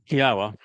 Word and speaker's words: Yahowah: Yahwa, which is the proper pronunciation of the name of our Elawa, God,